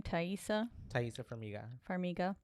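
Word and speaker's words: Taissa Farmiga: Thaisa Farmiga.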